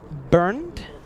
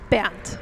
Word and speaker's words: Bernd: The German pronunciation, Bernd. Band. Yes. Like band? Like rubber band? No. That would be a little bit different.